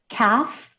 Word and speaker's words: calf: And then you have calf. We don't pronounce the L, so just K-A-F.